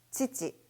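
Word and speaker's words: 父: 자, 그 두 가지 개념을 기억하면서 같이 한 번씩 발음해 보도록 할까요? 자, 일단 아버지라는 단어부터 시작합니다. 치치, 치치, 오토상, 오토상.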